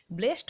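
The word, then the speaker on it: blessed: সেইটাই, এটা তোমার একটা স্লেস বলতে পারো, ব্লেসড, এটা উচ্চারণটা ব্লেসিড, ঠিক আছে। যখন অ্যাডজেক্টিভ হয় তখন ব্লেসিড উচ্চারণ হয়, যদি ভার্ব হয় তাহলে আমি তাকে আশীর্বাদ দিলাম, তাহলে তখন হয় ব্লেসড, বুঝতে পারলে।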